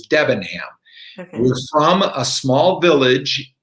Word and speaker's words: Debenham: everybody came to america they changed the correct pronunciation and and have adopted how we now pronounce my last name which is devin hamm we're from a small